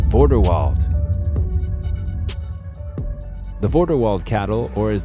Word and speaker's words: Vorderwald: Vorderwald. The Vorderwald cattle, or as the Germans would call it, Vorderwalder Rind, is a dual-purpose cattle breed with a name that rhymes with Grindelwald.